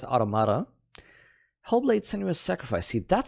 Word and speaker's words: Automata: Yeah, I know you would say Automata, which is sensible, but apparently in the game they pronounce it as Automata.